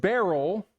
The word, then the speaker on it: beryl: But from what I read, the purest beryl, is that how you say it?